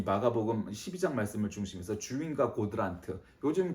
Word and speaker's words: 고드란트: 그래서 오늘은 주인과 고드란트, 뭐 혹은 코드란트 이렇게 발음해도 되지만 원래는 K니까 어쨌든 고드란트든 코드란트든 주인과 고드란트입니다.